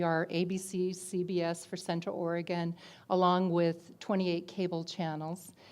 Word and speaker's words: Oregon: So they blazed a trail out west, and they discovered this beautiful state called Oregon. And we all had to pronounce that right, Oregon. Gun.